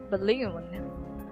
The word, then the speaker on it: balloon: Okay, next is balloon. Balloon. The first syllable is unstress and stress. Balloon. We don't say balloon. Balloon. Balloon. Of course not like that.